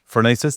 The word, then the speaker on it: Phronesis: I've got a special guest with me, Shane Allison, CEO and founder of Phronesis. Am I saying it right? We did talk about this off camera. You've nailed it. Phronesis, tell me what the origin is.